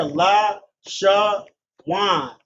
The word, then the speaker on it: Lashawan: See here la sha wan connected on the li meaning a li connected on the sha making the the syllable sha one syllable then connected on the w and n making what and connected as one given the pronunciation of lashan and the syllables being sha that's what you do